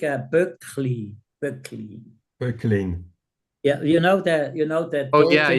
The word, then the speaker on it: Böcklin: Böcklin.